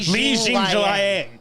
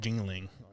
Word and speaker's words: Jingliang: We used to call Liang Jingling. Yeah, we used to think that was his last name, and it's Jing Liang.